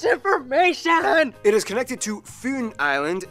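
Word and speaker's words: Fyn: that's too much information it is connected to foon island not finn island by the great belt bridge completed in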